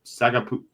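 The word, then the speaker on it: Sagapolutele: at Cal, Duran Q Sagapalitele. That is a heck of a pronunciation by you right there. That's impressive. It's like, I guess it's like Tagovailoa.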